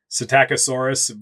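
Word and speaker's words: Psittacosaurus: It's a sitacosaurus but with a silent p at the beginning just like a parrot would be because it had like a parrot-like beak.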